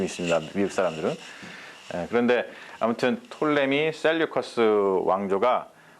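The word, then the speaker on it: Ptolemy: 그게 누구냐면 톨레미 왕조라고 있어요. 영어를 다 이렇게 써요. 이건 묵음이에요. 프톨레미. 이렇게 안 쓰고 톨레미입니다. 그냥 톨레미.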